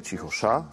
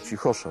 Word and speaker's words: cichosza: Ważny jest akcent, nie cichosza, tylko cichosza. Tak wyszło z rytmiki tej melodii.